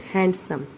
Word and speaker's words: handsome: It is not handsome, it is handsome. D is silent in it.